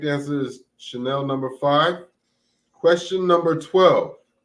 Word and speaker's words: Chanel: know where it is I wrote um Channel but I'm gonna pronounce it Chanel Chanel yeah both are correct the correct answer is Chanel Number Five or if you're from the hood you can call it channel that reminds me of